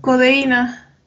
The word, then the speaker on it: codeína: Con codeína. Codeína también lleva tilde. También. La I.